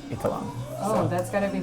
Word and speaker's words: Eitharong: I'm Eitharong, or Eitharong, depending on how you want to pronounce it. So growing up, it was always Eitharong, but really it's Eitharong.